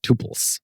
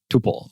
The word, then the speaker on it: tuple: pronunciations of the word Tuple the first one is the one I just said Tuple so you would pronounce it like in the word quadruple and another one is